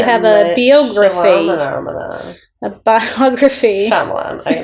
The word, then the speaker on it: Shyamalan: Shyamalan. I say it, right? That's how I say it. Shyamalan.